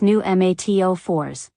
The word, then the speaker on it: pneumatophores: cypress automatically produce knees technically called pneumatophores pronounced new mat04s modified aronchimedus roots that grow upward into the air summary 1.